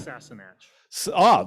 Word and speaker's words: Sassenach: This is, how do you pronounce that, Ian? Sassenach.